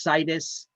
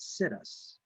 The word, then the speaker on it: situs: So I believe it's pronounced situs. I like to mispronounce words to remember them. So I mispronounce this one often and I call it situs.